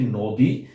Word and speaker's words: নদী: যেমন আমরা যদি দেখি নদী, নদী বানানে আমরা দীর্ঘ ই ব্যবহার করলেও এর উচ্চারণটা করি আমরা হ্রস্ব ই। যেমন যদি দীর্ঘ এর উচ্চারণটা আমরা করি তা আমাদের বলতে হতো নদী নদী, কিন্তু আমরা তা না করে সবসময় বলি নদী নদী নদী নদী নদী এরকম। অর্থাৎ নদী বানানে আমরা দীর্ঘ ই ব্যবহার করলেও উচ্চারণে হয় হ্রস্ব ই।